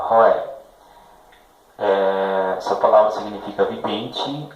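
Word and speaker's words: רֹאֶה: A pronúncia roé.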